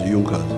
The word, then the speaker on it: Junkers: It is written Junas but they pronounce it as Junkas.